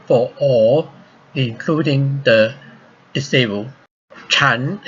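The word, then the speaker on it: 禅: all including the disabled Qian is the Chinese pronunciation of Zen this book is my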